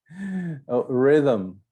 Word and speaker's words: rhythm: mustn't note no gh rhythm rhythm no age should noel talk noel